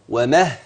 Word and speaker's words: ومهدت: ده من كلمتين مهت يبقى ادغمت الدال في التاء لما جج انطق النطق يكون ازاي ومهت ومهت ومهت ومهت يبقى من الهاء للتاء مباشره زي ما كتبت لك